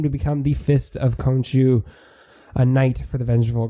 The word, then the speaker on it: Khonshu: I looked up how to pronounce it. So I'm good now. Khonshu.